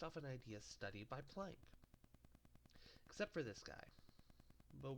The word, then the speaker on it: Planck: The Prank Kids get their name from the scientist Max Planck. When pronounced with a Japanese accent, the L and the R sound almost identical, so Planck becomes prank.